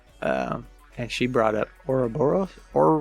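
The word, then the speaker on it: Ouroboros: about this earlier um and she brought up Ora boros or Oro borus oroboros how do you say that oroboros you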